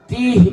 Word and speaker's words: তিহ: যে উপত্যকাটার নাম হলো তিহ বাংলায় যার উচ্চারণ হলো তয় দীর্ঘই হ তিহ উপত্যকা এই তিহ উপত্যকা